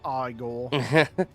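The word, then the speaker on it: Igor: to make your acquaintance it's pronounced aore this is Elizabeth she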